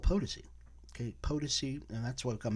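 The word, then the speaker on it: Potosi: was a kid uh so one reporter actually said potasi and I you almost want to just cringe it's like my gosh you you live in Las Vegas you don't even know how to say our landmarks so here in Las Vegas we will never say potasi will say potency we will never say uh amargos we won't say armagosa we'll say Amargosa because that's the way we pronounce it and so we want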